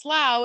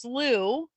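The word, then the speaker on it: Slough: but he said that in England it's pronounced slow and in the United States pronounced slooh so whatever call it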